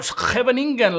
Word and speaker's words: Scheveningen: Or we can also enter in the Scheveningen or Scheveningen, like Dutch people pronounce it more or less. Of course, my pronunciation is horrible.